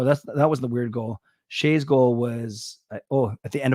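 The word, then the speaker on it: Skjei: Shea's goal was at the end of a power play. Gail looked at Shea's name, spelled S-K-J-E-I, and she said, "How do you pronounce it?" And I said, Shea.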